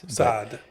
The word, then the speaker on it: Saad: you know I tell people my name is sad all the time but really that's not how you pronounce it's sad sad yeah it's it's hard and I and I